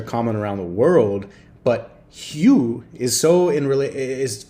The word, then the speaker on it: Hugh: British people named hug huge I think the g is silent phew Hugh the cue Hugh Grant